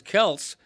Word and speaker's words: Kelce: I mean, Travis Kelce is Travis Keltz, but he's pronouncing it Kelsey because everybody else does.